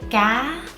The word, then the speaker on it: cá: In Vietnamese, we say ga, up. Can't say ga. Ga means sing. Tonation is very important.